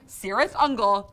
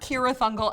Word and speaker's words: Cirith Ungol: brief, on Cirith Ungol, who pronounced their name Cirith Ungol, not Cirith Ungol a la Lord of the Rings, so stop arguing about that shit in the comments.